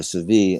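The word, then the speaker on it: Sevilla: and and in um Seville or severe it's a the Spanish pronounce it there's a mosque and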